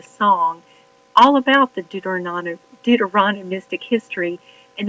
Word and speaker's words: Deuteronomistic: all about the dter deuteronomistic history and they made it rhymed with supercalifragilistic dorano Mystic it's important